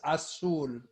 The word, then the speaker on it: azul: But it's pronounced like an S. Azul.